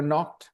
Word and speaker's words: knock: were knocked they were knocked out K is silent okay whenever you have that k o w k o c k uh k n we e you know K is silent no KNE knock okay yeah that's why